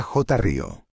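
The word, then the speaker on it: χρίω: Exousía, que fonéticamente se pronuncia exusía, significa autoridad legítima, poder delegado, crío, J acento agudo, que se pronuncia j río y significa ungir con propósito divino.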